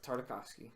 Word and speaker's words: Tartakovsky: Yeah, it's Tartakovsky.